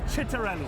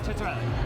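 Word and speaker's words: Ciattarelli: Jack Chitter Chitterelli. Yeah. Italian American Chetra. I'm being told by experts on Italian names that it's Chitterelli. Chitterelli. Jack Chitterelli.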